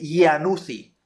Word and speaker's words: Iannuzzi: conoce como la semiluna serosa o semiluna de Iannuzzi. Así se escribe, Ia con doble N, Iannu y con doble Z, Iannuzzi.